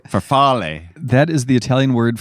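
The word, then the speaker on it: farfalle: black made for us this is my bad pronunciation then you can correct me farell with pesto yes faral faral that is the Italian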